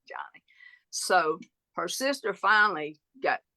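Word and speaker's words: Joni: be a girl so it's j o n i but they pronounce it Johnny so her sister finally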